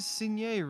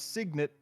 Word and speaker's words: signet: to maybe wear it is that how you pronounce that word um well it is in french and french is the only language in which i know that word so well anytime i've come across that in in reading in my head i did not pronounce it that way well let's find out all right the only time i've seen this is in the context of french so nope it's signet okay so i was